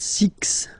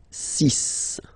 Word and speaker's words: six: s okay so it's not six it's sis all right then here